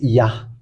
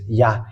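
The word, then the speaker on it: יה: how to read this it's yah that's how we read this yah according to the ancient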